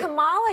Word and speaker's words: Kamala: Let me actually pronounce her name right. Kamala Harris, if Kamala.